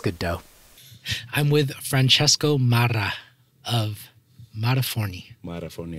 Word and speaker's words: Marra: The last name, people say Marra. But in Italian, double R is Marra. So you put a little bit more emphasis on the second R.